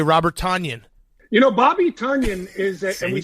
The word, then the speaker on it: Tonyan: Bobby Tonyan is, and we say it Tonyan now, fellas.